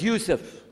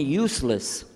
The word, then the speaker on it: Yusuf: la my name is Yousef did you say Yousef who said Yousef you're very good I wish you teach my wife she keeps mispronouncing it she calls me useless alhamdulillah now how many of you were in